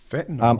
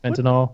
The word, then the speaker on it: fentanyl: Fentanyl. I can't imagine. Am I saying it right? Fentanyl. That's Fentanyl one is of one of them.